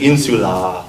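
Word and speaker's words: insulā: saying insula with a long a at the end, right, for the ablative, right?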